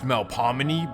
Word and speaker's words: Melpomene: First, let me introduce you to the Melpomene Project, also known as the Melf. Now, technically it should be pronounced Melpomene, but it's New Orleans.